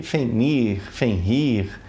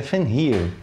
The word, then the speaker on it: Fenrir: Eu chamo o dispositivo de FenrIR. E tá errado, pelo que eu pesquisei, a pronúncia correta seria FenrIR.